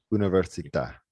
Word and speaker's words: università: School is scuola, and university is università. Okay. Can you pronounce those for me one more time? Yes, school is scuola. Scuola, Yes, while university is università. università, Yes, the accent on the A means università.